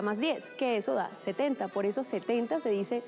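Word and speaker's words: sept: Primero, la P de 7 no se pronuncia.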